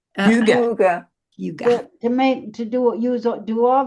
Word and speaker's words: Hygge: How do they pronounce Hygge? Huga.